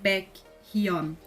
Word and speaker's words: Baekhyun: Aqui no caso, de novo também, como começa com o H na segunda sílaba, rouba a batim anterior caso tenha. Então, você não vai falar Baekhyun, Baekhyun, porque é ruim, é chato falar Baekhyun, não dá pra falar Baekhyun. Então, você fala Baekhyun, Hyuk, Hyuk, Hyuk.